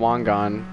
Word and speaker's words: Wangan: It's called Wangan.